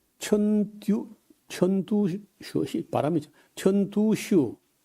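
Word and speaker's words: 陈独秀: 그래서 어 중국의 오사 어 운동을 일으켰던 사람이 천 천듀 천두슈 바람이 천두슈 천두수는 이제 우리 한자를 우리 읽기로 하면요 진독수라 진독수 진독수를 이제 중국 이름은 중국 발음은 턴두슈 그다음에 노신이라는 사람인데 루신 그래요.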